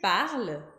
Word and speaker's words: parles: Tu parles, a terminação é ES, ES, e a gente também não pronuncia.